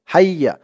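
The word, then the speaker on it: حَيَّ: দর্শক, তাসদিদওয়ালা হরফ কিন্তু দুইবার পড়তে হয়। এখানে দেখুন, হা ইয়া জবর হাই, আবার ইয়া জবর ইয়া, হাইয়া দুইবার পড়া হলো।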